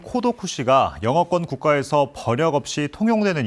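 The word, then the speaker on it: 孤独死: 나홀로 급증하면서 처음 등장했습니다 고독사의 일본어 발음인 코도 쿠시가 영어권 국가에서 버력 없이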